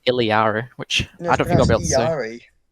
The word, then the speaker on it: Illari: Thursday was it after yes of course it's pronounced ilyar which I don't think sorry echo says iliari when she transforms into her oh does she